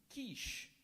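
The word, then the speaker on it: quiche: e pinor correct this word has a homonym kich Lois served soup and a seafood kich for lunch today kich kich may have the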